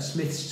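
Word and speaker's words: Smyths: I picked them up from a Smith's Toys, which if you're not in the UK, it's like Toys R Us, but owned by a different company, and it's spelled S-M-Y-T-H-S, Smiths.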